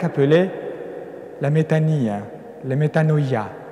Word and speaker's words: metanoia: la méta ni les metanoia vous le dites avec la prononciation erasme viennent là metanoia la conversion c'est le